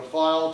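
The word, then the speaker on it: phial: english language you know when you see ph you pronounce it like an f like a file you know file to hold medicine it's p-h-i-a-l welcome to language okay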